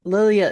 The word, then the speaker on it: Lilja: Karen, can I before we go into me, Lilia is spelled L I L J A.